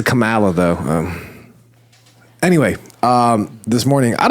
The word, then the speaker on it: Kamala: It's pronounced Kamala. I think Brian pronounces Kamala, though.